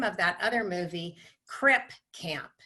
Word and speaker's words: Crip Camp: of that other movie, Crip Camp. So I may have said crib, I meant Crip Camp.